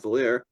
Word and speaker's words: Valier: As you can tell from the colors, I'm Valier, rhymes with queer.